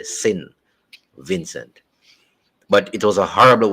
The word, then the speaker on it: Saint Vincent: Some people now call it Sin Vincent, which is sin, as in S-I-N.